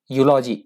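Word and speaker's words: eulogy: यूलॉजी ई से नहीं प्रोनाउंस करेंगे, ध्यान से सुनिएगा, यू से प्रोनाउंस करेंगे यूलॉजी।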